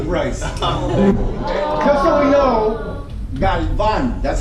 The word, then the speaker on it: Galvan: Just so we know, Galvan, that's how we pronounce it. Galvan.